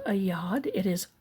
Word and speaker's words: yad: That's what this is called, a y a d, a yad.